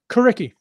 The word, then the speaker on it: Coriky: Am I pronouncing this right? Coriky? Coriky.